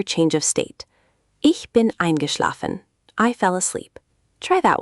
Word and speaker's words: eingeschlafen: eingeschlafen. eingeschlafen. Ich bin eingeschlafen. Got it. Perfect pronunciation that time.